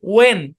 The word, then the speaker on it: when: তারপর আমি লিখলাম WHEN, তাহলে শুরুতে আছে, তাহলে এইচটা সাইলেন্ট। ওয়েন, ওয়েন মানে কখন, আমরা বলি হোয়েন।